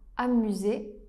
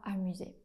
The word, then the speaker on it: amusés: Attention, c'est un S muet qu'on ne prononce pas. Nous ne nous sommes pas amusés.